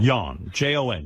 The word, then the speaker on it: Jan: It's Jan. pronounced Jan. Jan. Jon. Jan. And by the way, tell Jan it's John in this country. Jon is John. It's Danish. Well, whatever. This is America, pal. Jan is Y-O-N Right.